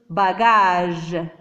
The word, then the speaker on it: bagage: On a prononcé J parce qu'il y a le E. Bagage.